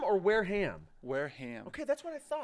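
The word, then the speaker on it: Wareham: today okay so now weam or weham weham okay that's what I thought the weham gateman yes sir the H is is pronounced yes they say everything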